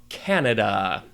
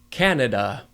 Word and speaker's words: Canada: Let us move on to Canada.